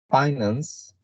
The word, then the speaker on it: finance: Finance, it has 2 syllables, and the prominent sound, the prominence is in the first one.